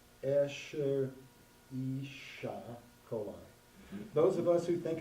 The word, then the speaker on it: Escherichia coli: Oh, it says pronounced Escherichia coli.